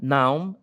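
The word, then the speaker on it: known: Eu não pronuncio o K aqui, tá gente?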